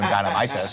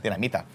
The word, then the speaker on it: Dinamita: It's also possible that my mouth is now numb because of the chili limon dinamites. So good. Dinamites? How do you say? Dinamita. Dinamita.